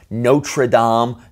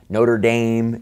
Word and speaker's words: Notre-Dame: all we're talking about words that are originally in French so there's the proper French pronunciation but when you're speaking